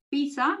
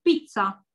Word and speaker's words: pizza: La pizza, o pizza en italiano, es como una TZ. Pizza. ¿Ven? Pizza. Y es rápida.